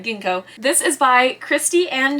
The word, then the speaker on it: ginkgo: city of Genco leaves now is that Ginkgo I feel like I've been saying it wrong but I also might be saying right let's find out we're good I said it right Ginkgo this is by Christy